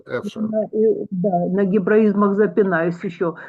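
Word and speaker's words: אפֿשר: Это слово древнееврейского происхождения. Читаем не так, как пишется. Эфшер.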